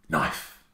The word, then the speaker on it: knife: The next word up is knife. Another silent K at the start.